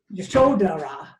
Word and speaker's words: Yasodhara: Sometimes people pronounce it, and Yashodhara, but I've never been able to pronounce it that way. And the bottom line is we don't really know how these languages were pronounced.